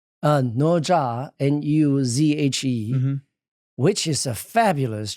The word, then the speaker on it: Nezha: That's how you pronounce it. Nuzhe? Nuzhe, yes.